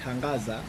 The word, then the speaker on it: Hangaza: like we call it we call it hangaza tangaza like with h yeah h h a n g h so how do